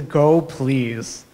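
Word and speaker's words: gopls: you can contribute to go please that's how you pronounce that thing so go please is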